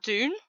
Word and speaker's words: Dune: No, no, they're bringing out Dune.